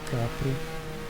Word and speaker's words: Capri: It's a Ford Capri RS, or Ford Capri if you want to pronounce it the Italian way.